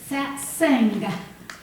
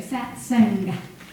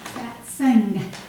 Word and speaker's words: Satsang: This morning is titled Satsang, Gathering for Truth. Satsang. Now I Googled it on Chrome, and that's how I heard it. Satsang. Make a hard G there. Satsang. It's not just satsang. Satsang.